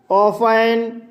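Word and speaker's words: often: ही ऑफन, दोस्तों ये ऑफन पढ़ा जाएगा, इसमें टी साइलेंट रहता है इसलिए दोस्तों इसको ऑफन पढ़ते हैं।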